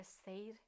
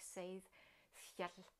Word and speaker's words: seiðr: what is called a Seiðr. I've pronounced it in Danish more or less, and a Seidkvinde. But if I'm trying more like Old Norse, it's something like Seidr.